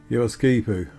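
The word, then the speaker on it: Geroskipou: teaming Metropolis that is yipu and I know how you pronounced that because I asked some ladies in a chemist how they pronounced it and they told me the emphasis is on the ski and this is where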